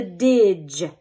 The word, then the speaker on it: dge: You will cross out the D and the E because it is silent. And you're going to put our little dot above the G because it's going to make the J sound like giraffe.